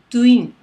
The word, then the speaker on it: トゥイン: For example, a single room is シングル and a twin room, トゥイン very different, right?